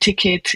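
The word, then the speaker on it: TKET: we call it ticket is spelled tk.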